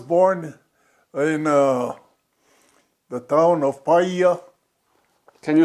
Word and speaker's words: Paia: I was born in the town of Paia. Can you spell it?